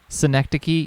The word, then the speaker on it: synecdoche: if you just sit here it'll come back synecdoche yeah that's how you pronounce it i learned that one in school